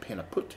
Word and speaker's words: Pannepeut: drink their products daily pronunciation is a bit difficult but sounds like the peanut put so it is a pain a pot but they end up pronouncing it Panna put so this is a